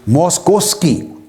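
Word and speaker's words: Moszkowski: है ये एक और साइंस दन है जो मोस्कोवस्की उसने कोट किया है मोस्कोवस्की ने लिखने में इसके स्पेलिंग है एम ओ एस जड के ओ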